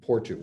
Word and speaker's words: Porto: the destination I'm in portugu or Porto okay which is pronounced Portu here and I am